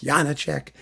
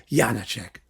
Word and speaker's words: Janáček: Prague several times like 50 times and they pronounce Yana check Yana check so there you go there are different check